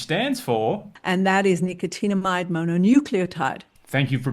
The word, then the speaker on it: nicotinamide mononucleotide: And that is nicotinamide mononucleotide. Thank you for pronouncing that properly, Vanita.